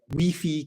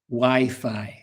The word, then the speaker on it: Wi-Fi: Um so be careful with the pronunciation. If you go to Ireland, England, USA, Australia and you ask for the wei code, nobody will understand you. Wifi.